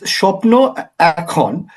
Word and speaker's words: Shapno Ekhon: Yeah, it's Shapno Ekhon.